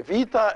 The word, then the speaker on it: vita: thanks so it's and the vita is pronounced either a b or a v depending on the situation and we're going to